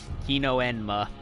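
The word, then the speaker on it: Hino-Enma: mistook for a spider pronounced he no and ma I already knew how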